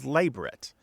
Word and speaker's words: labret: and traditional pronunciation is labrit with the stress on the first syllable not the last and not a Frenchy pronunciation because it is not